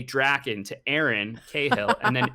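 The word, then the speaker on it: Drakkon: And I was like, it's Draken. But I'm also thinking to myself, why does he need to know that? And then I see him turn and say Draken to Aaron Cahill, and then Aaron says to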